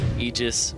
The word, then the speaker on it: Aegis: you're the one who's who pronounces it egis so I know you got you got the technically correct thing going for you Aegis Mana Aegis is true as well it is true it's